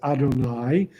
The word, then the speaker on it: Adonai: Torah uh one is yud V which we pronounce as Adonai which is God's personal name okay and the